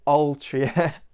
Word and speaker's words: Altria: say all true groups they always say like ultra over you like ultra group and I got I actually pronounce it in China like stop my Yorkshire accent from coming out on these videos so I'll try and say altria group just to try and